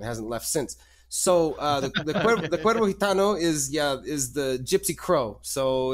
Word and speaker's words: Cuervo Gitano: So are you referring to the Cuervo Gitano project? Is that that's how you pronounce it? I'm trying so hard. No worries. No. Cuervo Gitano, yeah.